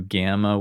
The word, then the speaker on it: γ: So when we do gamma with a front vowel, it sounds like a Y. Gamma with a back vowel sounds like a hard G.